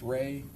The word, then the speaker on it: Rey: There's also a visual spatial ability test and I'm going to have you exp explain or pronounce that for us. The rey test. Ray, the ray ostrich complex figure test.